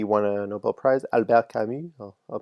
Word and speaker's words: Camus: Albert Camus, I'll pronounce it correctly.